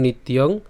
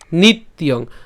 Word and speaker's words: নিত্যং: তাহলে একসাথে যদি উচ্চারণ করি নিত্যং, নিত্যং একসাথে উচ্চারণ করব নিত্যং, ঠিক আছে।